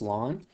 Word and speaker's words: ln: well there it is right there pronounced long and I actually have